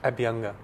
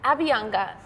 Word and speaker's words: Abhyanga: How do you pronounce it? Abhyanga. Abhyanga.